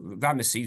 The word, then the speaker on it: Ramesses: Okay, this is himself, Ramses II. Ramesses, we pronounce him, and you can see he's got a mighty hand and an outstretched arm.